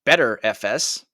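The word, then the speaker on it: Btrfs: is also BTR FS which apparently is supposed to be pronounced better FS get it wow and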